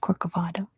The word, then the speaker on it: Corcovado: What is on top of Mount Corcovado?